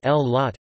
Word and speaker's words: Güllaç: Güllaç, pronounced L-lot, is a Turkish dessert made with milk, pomegranate and a special kind of pastry.